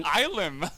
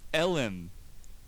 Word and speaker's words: Elim: It's not Ilim. How do you pronounce it? Elim.